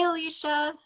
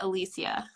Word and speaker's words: Elysia: Hi, Elysia. Hi. Am I saying it correctly, or is it Elysia? Yeah, the first thing's correct.